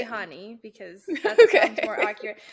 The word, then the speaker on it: Chani: Oh, it's a Chani for me. She's Jewish. It's Honey. Honey. Yeah. Okay, well then fucking YouTube lied to me. I was saying Chani. Chani is how you say it according to YouTube. That's what I was trying to think. Chani is the way wrong way to say it.